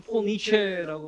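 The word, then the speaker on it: Paul Nitze: 그래서 제가 폴 니체 이름을 여기 저는 폴 니체라고 발음을 하는데 우리나라에서는 폴 니츠라고 표기가 됩니다.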